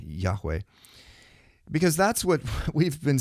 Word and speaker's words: Yahweh: I was shocked when he said that the correct pronunciation was Yahweh. And again, he he points out that it's not with the the guttural Yah, but it's more of a lighter Yahweh.